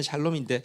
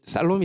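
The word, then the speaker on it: שָׁלוֹם: 영어 발음은 샬롬인데 원어 발음은 살롬에 조금 더 가깝습니다. 살롬인데요. 근데 이 살롬이라는 단어에게는 이게 살롬이 새라고 하면, 새가 나르려고 하면 날개가 두 쪽이 있어야 되잖아요.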